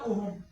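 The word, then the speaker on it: ohm: এটা মনে রাখবেন দেখো রেজিস্টেন্সের ইউনিটের ওহম বা ওহমসও করে থাকি আমরা নরমালি এইচটা সাইলেন্ট রাখি অনেকে ঠিক আছে আরেকটা জিনিস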